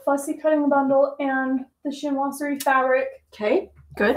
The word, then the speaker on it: Chinoiserie: So the pattern is called Chinoiserie, or Chinois, let's see, the French pronunciation the French pronunciation is like three syllables, Chinoiserie.